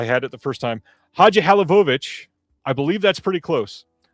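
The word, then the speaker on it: Hadžihalilović: I believe it's Lucille Hadjilovich. Oh, I had it the first time. Hadjihalovich. I believe that's pretty close. Halilovich. There it is. Halilovich is, I believe, the right way to say it.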